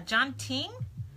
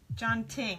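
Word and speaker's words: tjanting: It's pronounced jonting, I think. I don't know. But I think that's how it's pronounced.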